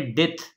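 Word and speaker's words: debt: आगे है डेथ, डेथ, डेथ में बी साइलेंट है। ये वो मरने वाला डेथ नहीं है, वो डी ई ए टी एच है, और ये वाला डेथ कर्ज को बोलते हैं, कर्ज, डेथ। आगे है डाउट, डाउट में बी साइलेंट है।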